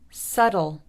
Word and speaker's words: subtle: Subtle, subtle.